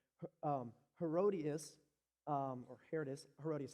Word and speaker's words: Herodias: gonna try to say her name right um herodias um or Herod is herodias I think I believe that's herodias thank you um herodias is the former wife